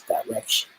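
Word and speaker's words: Direxion: called direction the that's how you say this direction that's how you pronounce it and they have a sense of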